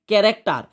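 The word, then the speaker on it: character: তারপরে দেখো এখানে লিখেছি ক্যারেক্টার। ক্যারেক্টার লিখেছে সিএইচ। দেখো এটা কিন্তু লিখেছি যে উচ্চারণ হবে।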